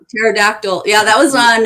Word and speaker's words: pterodactyl: Pterodactyl. Pterodactyl. Yeah, that was on. The P is silent.